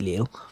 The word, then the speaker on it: Lille: take Liverpool to Lille is it pronounced Lila I think it's pronounced Lille what I'm gonna do